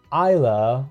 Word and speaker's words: Ayla: s rank character and isla or ayla depending on how you want to pronounce it is actually an a